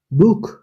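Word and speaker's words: Buch: এরপর হচ্ছে আ ও ও এর পাশে থাকলে খয়ের মতো, যেমন বুক, বুক। ও এর পাশে সে আছে বুক, এর জন্য এটা খয়ের মতো উচ্চারণ হয়েছে বুক।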